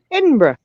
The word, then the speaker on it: Edinburgh: get it right she said what'd you say edinburgh yes scotland yeah i want to visit there